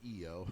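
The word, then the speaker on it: Iyo: It's a very simple name change, so they added the Y, so people would pronounce it EO.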